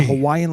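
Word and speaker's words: Hawaiʻi: To practice pronouncing the Okina, say the word uh-oh. That break between the syllables when you clear your throat is the same kind of break you'll insert when you see the Okina.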